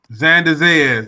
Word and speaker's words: Xander Zayas: His name is Xander Zayas. That's it. yeah, you hit it right on the nose. I still couldn't pronounce it.